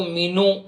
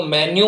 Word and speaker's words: menu: ठीक है, कई बार हम इसका उच्चारण गलत करते हैं, कई लोग इसको मीनू, कई लोग इसको मेन्यू बोलते हैं, जो कि बिल्कुल गलत होता है।